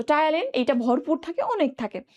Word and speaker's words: Ptyalin: ভরপুর থাকে হচ্ছে টায়ালিন, টায়ালিনটা, টায়ালিন বানান জানো? টায়ালিন বাংলায় তো দেখেছো, ইংলিশ বানানটা একটু দেখবা, PTYALIN।